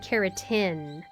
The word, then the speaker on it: keratin: I try to say it like carotene and keratin. Teen and tin. So teen is like teeth, and tin is like to win a race.